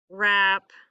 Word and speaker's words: wrap: Same thing with it if it sounds like it starts with an R. We have wreck, wrap, wrong. All of those have a silent W at the beginning.